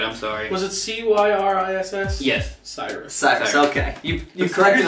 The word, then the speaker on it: Cyriss: And the new Warmachine Convergent of Cyrus or Cis or I still don't know how to say pronounce it right. I'm sorry. Was it Cyriss?